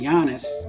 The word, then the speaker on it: Giannis: last name wrong, and I said Giannis, but it's actually Giannis.